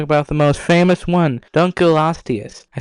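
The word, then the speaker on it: Dunkleosteus: Dunculostius.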